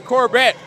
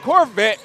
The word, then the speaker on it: Corbett: Nice rebound and effort by Corbett. Not Corvette. Corbett, spelled the same, but without a B, it's a V.